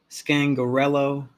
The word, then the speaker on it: Scangarello: So Getsy, Scangarello, that's how you say his name, and Craig are gone.